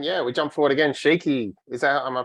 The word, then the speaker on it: Shiki: and then yeah we jump forward again shaky is that am I pronouncing that right cheeky yes yes cool